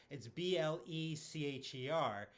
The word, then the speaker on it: Blecher: So the biggest mistake people make is it's Blecher.